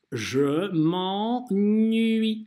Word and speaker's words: je m'ennuie: Первый слог у нас «en» – это «а» носовая. «Je m'en», «je m'en», «je m'en». И потом уже звук «n». «Nui». «Je m'ennuie», «je m'ennuie». Так это произносится. Обычно двойная «n» – это исключение носовых, но не в приставках некоторых глаголов, как, например, «je m'ennuie» читается с помощью «а» носового. Будьте к этому внимательны, кто только и как только не ошибается в этом глаголе.